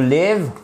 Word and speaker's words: live: To live, que vous avez en haut à gauche, c'est un I court pour dire vivre.